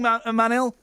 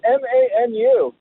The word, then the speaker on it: Manu: You're saying my name wrong again. Well, hang on a minute. All I am is the hired monkey. I just read what's written on the screen. It's Manu. So Manu. Right.